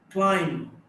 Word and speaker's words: climb: Climb, B is not pronounced.